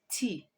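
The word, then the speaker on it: thé: masculine let's move on the next one is tea tea in french is te te and with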